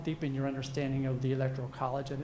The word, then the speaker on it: Electoral College: to pronounce the term it's not electorial College it's not electoral or excuse me electrical College it is the Electoral College okay uh some people